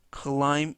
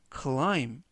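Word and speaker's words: climb: 뜻이 되겠습니다 이번 표현은 클라임 인투 클라임 인투 클라임 인투라고 발음하시면 되겠구요 이때 알파벳 p는 이번 단어에서 묵음이라서 발음이 되지 않습니다 그래서 클라임 브가 아니라 clime 관련 동사는 클라임이 되겠습니다 뜻은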